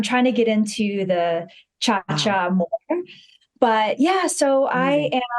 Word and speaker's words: Ciaccia: Yes, it's Ciaccia. Funny story is I didn't know how to pronounce that correctly. It's Italian until I went over to Italy. So my whole entire life, we would say Ciassi.